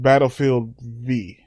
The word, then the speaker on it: Battlefield V: But I think they want you to pronounce it V. Like for victory.